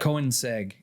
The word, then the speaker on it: Koenigsegg: Koenigsegg.